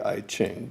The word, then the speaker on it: I Ching: One day, sitting at the computer, I had a computerized version of the I Ching. Some people might pronounce that the I Ching, but it's ancient Chinese fortune-telling thing.